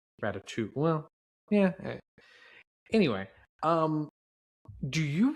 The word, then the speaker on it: Ratatouille: Today, we are talking about the 2007 comedy Pixar film Ratatouille, or I guess how the French would pronounce it, Ratatouille. Because I know as Americans, we kind of skip that second T. Ratatouille.